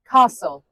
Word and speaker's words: castle: Castle. The T is silent, but castles are huge.